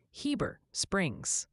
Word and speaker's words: Heber Springs: Seems the overwhelming verdict for Heber Springs, Arkansas is definitively Heber Springs.